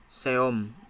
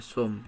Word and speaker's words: some: seom, dibacanya sum ya.